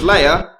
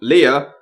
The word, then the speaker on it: Leia: an attack Hano and Princess Leia or Leah C3PO even pronounces it two completely different ways in 10 seconds it's Princess Leah